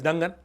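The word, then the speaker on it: Dungan: People pronounce it with dangan but it's dangan.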